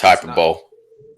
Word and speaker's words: hyperbole: Okay, it's pronounced hyperbole.